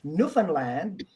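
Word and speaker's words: Newfoundland: you are secure with your answer okay D Nan land and the pronunciation is Nan Land Orlando can you say Newland Newland can you say Nova Scotia Nova scottia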